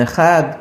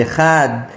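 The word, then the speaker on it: אחד: Disse Rav Ahaba Yaakov, e a pronúncia do Echad deve ser prolongada na letra Dalet, que é a última da palavra, de modo que a palavra é proferida de modo integral.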